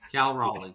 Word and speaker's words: Raleigh: Cal Raleigh. Okay. All right. All right. I'm sorry. I'm sorry. All right. Cal Raleigh. Raleigh, North Carolina.